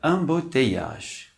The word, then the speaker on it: embouteillage: A palavra embouteillage. Novamente, temos um duplo L após a vogal I. O duplo L, novamente, não se pronuncia.